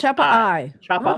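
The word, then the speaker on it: Chappa'ai: Chappa AI. So is there like a It's not AI, it's I. Yeah, I was gonna say. Oh, Pronounced Chappa I.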